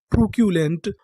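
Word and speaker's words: truculent: अगर आपको इंग्लिश में कहीं पर बीच में सीयू लिखा मिले तो हम लोग सी यू को पढ़ते हैं क्यू।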